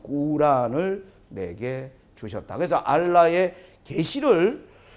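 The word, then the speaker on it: قرآن: 우리는 코란이라고 부르는데 이 사람들의 발음은 꾸란을 내게 주셨다.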